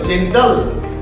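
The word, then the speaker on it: gentle: যেমন দেখো জি ই এন টি এল ই, জি এর পরে ই আছে, তাই কিন্তু এটা গ উচ্চারণ হবে না, বর্গীয় জ, জেন্টাল।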